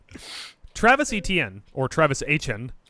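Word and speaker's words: Etienne: Travis ETN or Travis Hen said this. They can very easily ask his brother. Yeah. Trevor, which they did, and he confirmed it is pronounced Ain.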